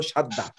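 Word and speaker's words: شدّة: আর Musaddad মানে আপনারা যেটাকে তাসদিদ বলছেন, আমরা বলছি ওই সব ওইটার মূল উচ্চারণ হলো সাদ্দা।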